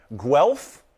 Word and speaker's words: Guelph: And Guelph, I checked the pronunciation, that's in Ontario, Canada.